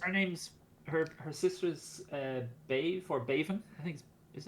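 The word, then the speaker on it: Badhbh: Bave is spelled Bedhbh, Yeah, and DH in Irish is silent, yeah, generally speaking, and BH is a V sound, so it's Bave.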